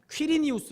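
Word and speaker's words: Quirinius: 뇨 라는 사람이 누구냐면 정확한 영어 발음은 퀴리 늬우스 라는 사람인데 역사적인 퀴리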